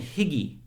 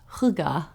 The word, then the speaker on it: hygge: a search result, it was talking about getting higgy. Oh, that's funny. I just talked about it today. What is getting higgy with it? That is so funny. Well, higgy is pronounced huga. Getting it's- hygge with it?